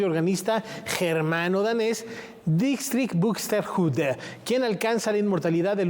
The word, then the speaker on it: Buxtehude: Entonces, bueno, imagínense la veneración que le tenía este gran maestro bien pronunciado, Buxtehude. Buxtehude.